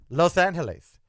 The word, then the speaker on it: Los Angeles: It's Los Angeles. That's how you say it. Los Angeles. That's how you say the city's name.